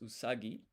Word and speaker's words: usagi: So remember rabbit is usagi.